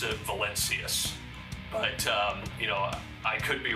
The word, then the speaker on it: Valencius: How do your parents state your last name? They say Valencius.